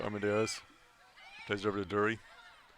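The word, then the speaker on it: Drury: Plays it over to Dury. Spelled D-R-U-R-Y, but pronounced Dury.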